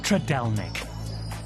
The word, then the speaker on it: Trdelník: You can also try it filled with cream and strawberries, but it's hard to pronounce. Trdelník? Trdelník? Yes. Oh. So it's something like this. Trdelník.